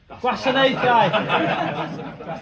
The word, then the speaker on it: Gwasanaethau: How do you say Guasanatau though? Is it Guasanatau? Gwasanaethau. Yeah, Gwasanaethau is what you're after.